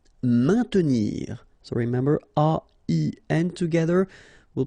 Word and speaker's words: maintenir: Maintenir. So remember, A-I-N together will produce the sound un. Maintenir. Don't insist on the E. Maintenir. Indiquer.